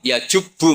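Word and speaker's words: يجبّ: Terus Nabi ngentikan, "Alisu yajubbu maqoblah." Itu bacanya bukan yajibu tapi apa?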